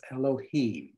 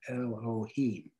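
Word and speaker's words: אלהים: If you can see that extra symbol in there, that's the letter Vav, but it doubles as a long O sound, as in Elohim.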